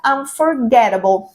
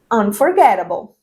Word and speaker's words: unforgettable: Sí, el sonido de la t entre dos vocales, entonces ellos van a pronunciar unforgettable. So, repetí ahí, totally. It was unforgettable.